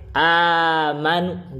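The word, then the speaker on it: آمنوا: caranya itu Badal saja Hamzah yang kedua dengan huruf mad yang sesuai dengan harkat sebelumnya sebelumnya itu fathah berarti dibacanya diganti dengan Alif amanu gitu itu mad badal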